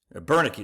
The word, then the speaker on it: Bernicki: But then part two, my man Ty Bernicki, Bernicki is how you say his name.